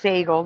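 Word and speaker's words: Sagal: in the chat and it's pronounced Seagle now weird it's Katie Seagle that's how they pronounce her name yeah I pronounced it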